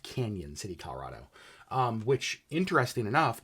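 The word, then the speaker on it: Cañon City: Colorado actually I think it's I think it's pronounced Canyon City Colorado um which interesting enough not that far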